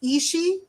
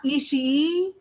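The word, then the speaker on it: Ishii: gonna say it again it's just isi not isi don't like uh pronounce that e so long it's just isi um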